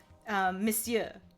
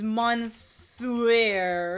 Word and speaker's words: monsieur: But even in different languages, it's pronounced weird. Like, monsieur. It's monsieur or something like that.